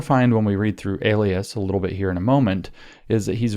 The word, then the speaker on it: Elias: up let me say his name again maurice alias e l i a s you should go